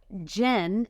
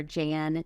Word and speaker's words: Jen: Jen, as you know, is misunderstood often for Jan, Jean. Yes. I get a lot of Jean in there. I got a lot of Jan, and I'm like, am I saying my name wrong? Yeah. They're like, I'm Jen. They're like, Jan?